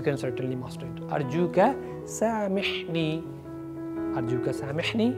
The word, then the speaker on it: سامحني: certainly master it أرجوك سامحني ميم ح سامحني please forgive me all